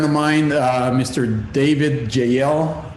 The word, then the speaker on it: Jeiel: a great friend of mine uh mr david jael jl is the way you pronounce it right okay like a biblical name